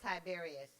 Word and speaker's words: Tiberius: tiberius that's not how you say that it's pronounced tiberius fabirus or c tobias i'm about to give